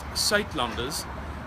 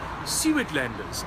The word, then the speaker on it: Suidlanders: again where to find more information okay it's pronounced sat lunders uh but in uh English you would probably pronounce it something like SE Landers and this is how you spell it s